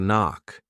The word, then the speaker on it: knock: Well, you can do the same thing with bada bada bada knock. The K is silent and off because they go together.